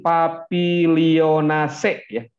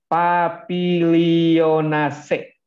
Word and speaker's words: Papilionaceae: terdapat dalam satu famili papilionaceae bacaan begitu ya jangan papilionaceae jangan dibacanya papilion AC pelan-pelan saja ini bahasa